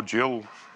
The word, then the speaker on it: gill: I'll Google it," which I did, and discovered you can pronounce it gill or jill.